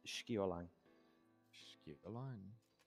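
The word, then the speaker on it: Sceolang: Pronounced Skiolang. Skip the line. Skiolang.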